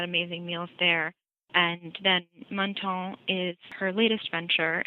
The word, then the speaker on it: Menton: one of those that I always mispronounce, but I think it's Menton. Is that right? Menton. I feel like you have to say it with like a French accent or something.